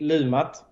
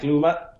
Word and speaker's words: Lumat: Let's hear it, because this is the definitive pronunciation. How do you say it? Well, in Swedish I say Lumat. There we go, Lumat.